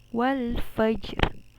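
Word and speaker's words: وَالْفَجْرِ: tak yang kedua adalah Qolqolah Sugro karena huruf Qalqalah gym berada di tengah kalimat Wal Fajri Fajri Fajri itu dibacanya dipantulkan secara ringan kemudian yang ketiga ada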